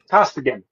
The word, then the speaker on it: Costigan: Um, Costigan, Okay. and that's how that's I asked him and he says I'm saying it right.